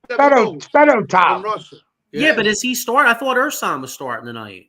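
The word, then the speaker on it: Fedotov: That's how you pronounce the name. Fido tiled.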